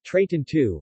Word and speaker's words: Trecento: The Trecento, Italian pronunciation, Trecento, Italian for 300, short for Mil Trecento, 1300, refers to the 14th century in Italian cultural history.